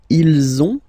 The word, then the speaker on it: ils ont: If you can see, you've got this final S and final S here, okay, and then you will have to make the little link between the two. Ils ont, ils ont, ils ont.